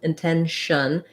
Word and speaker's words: intention: And then for tension, we have a true T there because it has the stress on in 10. This E is the same E as in the word 10 or in red tent. It's the vowel, intention. Then the TION is an SH sound, intentional. There's almost no vowel there. We're going to go quickly from the SH to the N, and also quickly from